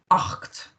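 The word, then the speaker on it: acht: Das ist 8. Remember that pronunciation, that A, C and the H. 8 with it on the end.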